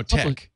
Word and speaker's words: TeX: lex um no yes it's no tech tech it's called t-e-x yeah tex uh he pronounces the attack for just to be additionally obscure and in in in